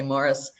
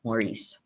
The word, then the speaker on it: Morris: This is their eldest son, Morris, and it's a Flemish name, so you say Morris, not the French pronunciation of Maurice.